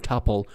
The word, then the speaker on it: tuple: I've told you before as far as I know both pronunciations I mean tle and topole are correct and also you should